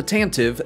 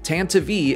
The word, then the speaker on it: Tantive: is the tantavi iv no not the tantive the tantavi people try to correct me every time i say it but according to the star wars radio drama tantavi is the right pronunciation the blockade runner was